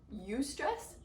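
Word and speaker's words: eustress: of stress there is you stress which is spelled EU like you as in euphoria and it means good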